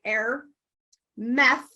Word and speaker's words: Airmeith: probably mispronouncing that again but it's h-e-a-l-w-i-t-h-a-i-r like air meth m-e-i-t-h the Celtic goddess of